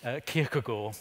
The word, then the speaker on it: Kierkegaard: So, like Kierkegaard, the Danish theologian, I lived in Denmark, please note I know how to say his name, Kierkegaard, it means churchyard, and he said that the